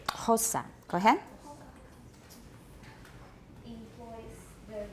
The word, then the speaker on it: Xhosa: Okay, Xhosa, and it's aspirated. Xhosa.